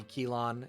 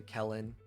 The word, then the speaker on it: Kelon: uh like Kell uh what you think might be kelon is actually Kellen like Kellen cylinder Kellen burst things like